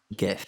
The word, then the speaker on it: GIF: GIF. The guy who invented the word said it's a soft G. It's GIF. Okay.